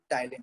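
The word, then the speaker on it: ptyalin: ठीक है समझ सर, वो पी साइलेंट है इसलिए टाइलिन है वो।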